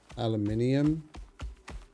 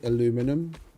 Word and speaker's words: aluminium: Aluminium. Or for those of you that pronounce it incorrectly, aluminum.